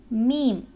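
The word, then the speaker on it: ميم: அடுத்து மீம். இந்த மீம் தமிழிலுள்ள மா என்ற எழுத்துக்கும் சிங்களத்தில் உள்ள மயன்ன என்று சொல்லக்கூடிய எழுத்துக்கும் ஆங்கிலத்தில் உள்ள எம் என்று சொல்லுக்கும் நிகரான ஒரு எழுத்து. எம் ஒரே மொழிதல். எம் மீம் ம மீம்.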